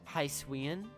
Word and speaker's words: Hisuian: Hisuian? Is that it? Is it Hisuian? Okay. I guess that makes sense. Emphasize the prefix, not the suffix.